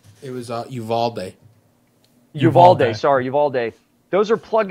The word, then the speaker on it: Uvalde: um um the what was it in Texas Uribe am I pronouncing that right I believe so yeah oh what did he say it was uh Uvalde Uvalde sorry Uvalde those are Plug and Play man